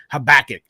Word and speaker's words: Habakkuk: that no one ever reads in the bible habakkuk okay is that how you say it solid yeah sweet all right habakkuk i read habakkuk the day before and it's